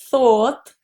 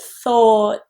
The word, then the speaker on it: thought: Not thought, thought, but thought. It's a little bit further back towards your alveolar ridge and there's more air.